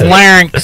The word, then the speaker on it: larynx: There's no N in there? It is, but it's between like the Y and the X. Larynx. Larynx. How do you say it? Larynx. Larynx. It's larynx.